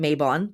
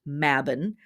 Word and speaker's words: Mabon: maybon so here in America we're taught to pronounce it maybon the word is actually pronounced mabin uh and the word is part of a